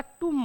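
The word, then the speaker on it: tomb: बांधलं ठीक आहे तर त्याला टम म्हणतात म्हणजे स्पेलिंगचा आणि याचा काही संबंध आहे का नाही म्हणजे लक्षात घ्या की English is नॉट a phonetic language.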